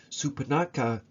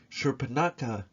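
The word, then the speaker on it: Shurpanakha: and protects his brother Supanaka or Shurpanaka, depending on the pronunciation, until he encounters Rama and Sita.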